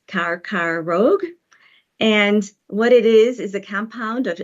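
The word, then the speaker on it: कर्करोग: so for example in Hindi the word is pronounced carar Rogue and what it is is a compound of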